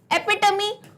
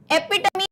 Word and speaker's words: epitome: एपिटमी pronounce कैसे करोगे, एपिटमी, है ना, टमी बोलते हैं टमी पेट को. तो इसका प्रोनाउंसिएशन आप हमेशा जब भी मैं कोई वर्ड बताती हूँ उच्चारण लिख लिया करो, क्योंकि 10 दिन बाद क्या होगा, इसको बोलेंगे एपिटोम. नहीं, क्या है ये, एपिटमी.